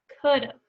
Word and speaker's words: could've: Could've. Say it back to me. Make sure you say the V at the end. Could've. You gotta get the V sound.